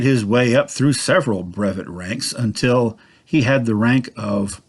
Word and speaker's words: brevet: It was what is known as a brevet rank, also pronounced brevet, although actually it's a French word, so it really should be pronounced brevet.